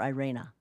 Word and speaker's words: Irene: Well, they call her Irene in this, but in the original, well, in the ones with Jeremy Brett, they called her Irena, even though it was spelled like Irene, I-R-E-N-E.